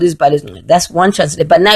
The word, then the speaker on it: Izibalo Ezingcwele: Now, it's called Izibalo Ezingcwele. That's how you say it. Izibalo Ezingcwele.